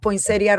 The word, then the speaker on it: Poinsettia: Poinsettia, like the Christmas plant, Oh, Poinsettia, yeah, Poinsettia.